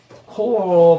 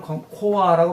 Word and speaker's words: core: 코어 발음인데 그냥 우리말로는 코아라고 말써요.